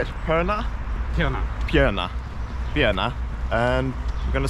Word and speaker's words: Pirna: Pirna?